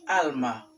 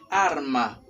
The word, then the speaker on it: arma: por ejemplo arma hay muchos que dicen alma pero no es alma se va de él sea de él se dice arma bien am arma alarma